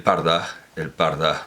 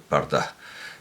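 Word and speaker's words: purdah: En este caso concreto, quiero pronunciarlo bien, el parda, porque los ingleses lo escriben con U, pero quieren indicar una A breve con esa U, el parda, que es una palabra persa, el parda, que ha pasado al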